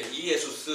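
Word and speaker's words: Ἰησοῦς: 그러면 헬라어 본문에는 뭐라고 썼을까요 비슷한 우리 발음으로 비슷한 이름이에요이 에소스 이렇게 이에소스 이렇게 썼어요 그런데이 예수스라는 낱말을 우리나라에서 우리가 이제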